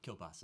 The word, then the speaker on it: Kielbasa: Kielbasa is how it's pronounced, but thanks. Literally Kielbasa? Literally Kielbasa. I could have gotten that. Just sorry. Thanks, though. So my name is Brandon Kielbasa, and I'm the director